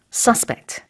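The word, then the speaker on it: suspect: 대한 대대적인 수색 작업이에요 이 단어는 지금처럼 명사일 때 내지는 형용사일 때 강세가 앞에 붙습니다 근데 동사일 때는 강세가 뒤에 있어요 그래서 의심하다 일 때는 뒤에 명사일 때 아니면 형용사일 때는 앞에 서스펙트 이렇게 발음하시면 돼요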